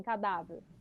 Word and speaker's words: cadáver: olha aqui ó cadáver qual que é a sílaba tônica em cadáver da é isso não precisa nem